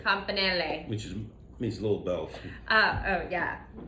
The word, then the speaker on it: campanelle: Campanelle. Campanelle.